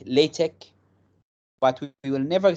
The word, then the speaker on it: LaTeX: what is latic first of all latic is l a t e x and how we pronounce it we say lch sometimes we just call it in one in one sound like latch but we will never say latex so this